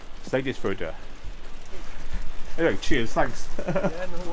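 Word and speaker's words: Seyðisfjörður: Seydisfjordur. Seydisfjordur.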